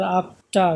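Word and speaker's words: after: lost এবার দেখি আরেকটা এফ টি ই আর আফটার আমরা কিন্তু আফটার বলতেছি আফটার বলতেছিলাম অ্যালফাবেট বা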